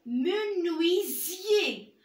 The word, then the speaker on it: menuisier: Comme dans le mot menuisier. Regardez ici, je n'ai pas prononcé le S, mais j'ai prononcé le Z. Parce que le S entre du voyelle se prononce Z.